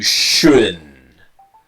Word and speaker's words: shouldn't: is this that you shouldn't you shouldn't buy it so the T disappears and the N is strong connecting to the next word you shouldn't buy it